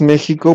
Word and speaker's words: México: Porque así lo escriben ellos y lo pronunciamos como si fuera como J.